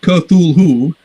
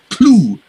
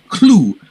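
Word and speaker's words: Cthulhu: you know whatever and he says it's two syllables it's not kerthul who and the th is not even a th it's a very harsh l sound so it's basically he's phonetically renders it as k h l u l l o or something like that so that first syllable is clue clue very you have to do it very harshly and gutterly uh possibly europeans can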